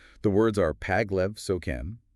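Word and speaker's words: མཁན: But Tibetan handles this using a particle spelled k h e n, which we pronounce ken.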